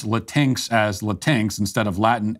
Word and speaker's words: Latinx: the latinx thing will will themselves pronounce it Latin X but you're already giving the left too much ground when you do that I I won't use their false pronunciation even when making fun of it because that's not like La how would you pronounce if you want the word Aladdin X then I guess you'd have to spell it l-a-t-i-n-e-x like maybe then you could justify latex but l-a-t-i-n-x is latinx that's how you pronounce